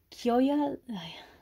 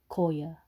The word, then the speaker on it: Kyoya: When I see his name, like, written down, my mind just thinks. Koya. Koya senpai. Or Kiyoya. Kiyoya. Kiyoya.